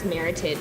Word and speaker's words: Meritage: And I love the fact that you educated us on meritage, to how to properly pronounce that Meritage, wine. yeah. Meritage. Yeah. Exactly, not meritage.